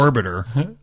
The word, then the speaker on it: Orbiter: Yes, and notice it's Biff's mispronunciation. Yeah. You were doing it too. At Orbator. Thanks, Amy. At Orbator. So what mission I think was... that's Orbiter.